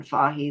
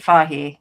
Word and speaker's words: Feige: Um, just Kevin Feige.